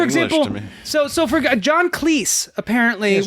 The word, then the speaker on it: Cleese: so so for john cleese apparently john cleese rhymes with cheese john cleese's name is